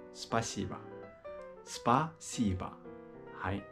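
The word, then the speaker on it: спасибо: ついてるんでアクセントのないんぼあばにありますなので芝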